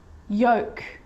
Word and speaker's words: yolk: could could should should talk talk walk walk yolk yolk half half salmon salmon not salmon salmon